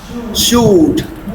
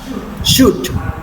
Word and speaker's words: should: These words are not pronounced as could, should would. If you say so, you are using the wrong pronunciation. So, it is could should and would.